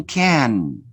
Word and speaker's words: can: The first can is pronounced with a schwa, weak.